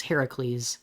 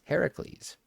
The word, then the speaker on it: Heracles: Just know that We have been saying it wrong. we've been saying it wrong, and his name, by all technicalities, Heracles. Heracles.